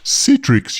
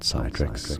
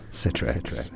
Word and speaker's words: Citrix: It's pronounced as Citrix, you babbling baboon. Not Citrix or Citrix. Citrix.